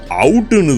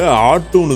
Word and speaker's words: ought: எல்லாருமே இதை பார்த்த உடனே OUGHT அவுட்டுன்னு தான் தெரியும். இதை ஆட்டுன்னு தான் ப்ரொனவுன்ஸ் பண்ணணும். இதையும் தெரிஞ்சு வச்சுக்கோங்க.